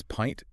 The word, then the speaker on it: pint: Because it looks like mint or hint, your brain wants to use a short I sound. But historically, the vowel shifted and it now demands a long I diphthong. Pint. Yes, you have to glide from an ah sound to an ee sound.